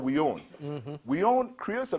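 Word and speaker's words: We Yone: And it's spelled W-E as one word, and then Y-O-N-E as the other.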